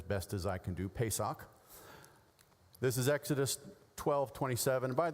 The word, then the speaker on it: Pesach: Passover as the noun, Passover as the verb, pronounced as best as I can do, Pesach.